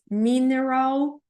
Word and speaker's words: mineral: tem mineral water mineral o segredo aqui do mineral é o r e o l então a gente vai falar igual assim ra Roll Roll mineral water mas eu ouvi